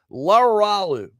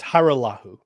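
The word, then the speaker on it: Hajrullahu: Laralu. Am I close? You're close. It's Haralahu. Haralahu.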